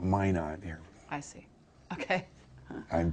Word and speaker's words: Minot: But that was really It's Minot. Yeah. Mino Mano, North Dakota. That's the French pronunciation. Yeah. We Americans call it May not here.